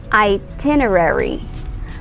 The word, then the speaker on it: itinerary: that thing is called itinerary itinerary say it so the um stress is on the second syllable t itinerary itinerary so it's not pronounced as itinerary we say itinerary itinerary okay this word